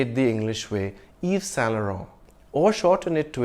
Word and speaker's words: Yves Saint Laurent: Yves Saint Laurent? No, mademoiselle. No, monsieur, c'est Yves Saint Laurent. The two N's aren't really pronounced. You just nasalize the preceding vowel sound, Saint Laurent.